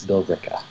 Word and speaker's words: Billerica: like that so it's it's spelled Billerica but yeah you pretty much just drop that in it's bill deca we have a city